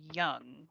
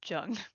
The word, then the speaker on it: Jung: the world Matrix I was pronouncing it I guess his name is Carl Young right yeah does it have us pronounced or is it called Jung because I don't know but I was saying jungian but I guess if her name is Young then it would be youngin I think I think